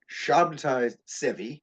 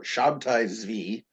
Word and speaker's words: Sabbatai Zevi: Do Yeah, his name is pronounced in various ways. So you look at it Sabbatai Zevi sometimes, or Sabbatai Zvi. I'll call him Sabbatai Zvi because it's shorter, it's easier to say.